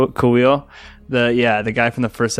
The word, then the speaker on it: Kuiil: Kuiil. Kuiil.